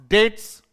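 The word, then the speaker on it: debts: वन मस्त पे wants डेट्स डेट्स नहीं होता है ये इसमें साइलेंट होता है कर्ज होता है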